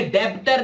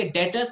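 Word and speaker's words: debtors: डेटर्स, बच्चों ये डेब्टर नहीं है, इसमें बी साइलेंट होता है, ये डेटर्स कहलाते हैं।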